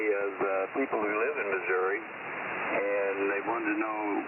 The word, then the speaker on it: Missouri: O'Fallon, Missouri.